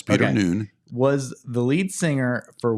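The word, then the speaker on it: Noone: of what that was Peter Noon I guess that's how you say his last name yes it's spelled did I say that right yes Peter Noon was the lead singer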